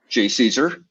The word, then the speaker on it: JCESR: for energy storage research whose acronym can be pronounced j caesar uh and that's led